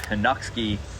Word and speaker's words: Chojnacki: My name is Chojnacki, and it's a Polish surname. It's actually pronounced Chojnacki in Poland, and my first name